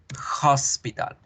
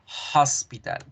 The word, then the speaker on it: hospital: Sí, como símbolo aparece la H, pero ustedes van a acordarse que ese símbolo se debe pronunciar como una J. Hospital. Hospital.